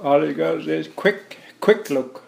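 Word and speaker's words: Kwethluk: quick look and if you don't know how pronounced squeak click all you guys is quick quick look quick look quick look yeah all you gotta do is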